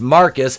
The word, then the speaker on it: Marquise: __ ] thread anymore marquise pronounced marcus starts to have a